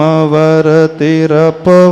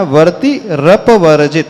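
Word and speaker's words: वर्तिरपवर्जित: वर्जित नहीं पढ़ना है बहुत सारे लोग निर्ध वति पवत पड़ जाते हैं वति नहीं लेना वर्ती रप वर्जित र को आगे लेना निर धोम वति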